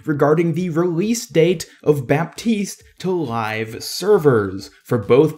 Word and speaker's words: Baptiste: Now, this is kind of a strange decision for Blizzard to go through with, because the actual French name is pronounced without the P as Baptiste, which is how I've been pronouncing it.